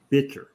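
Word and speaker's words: bichir: it a bitcher fr if it wasn't for that their name would be pronounced as bikers because CH in science especially in fish biology is always a c like you know KET dant day which are um you know um one of the tangs uh and and so but since it was named after a person you have to pronounce it like the person pronounce their name and since he pronounced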